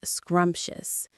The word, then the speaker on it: scrumptious: Two syllables with a stress on the first one.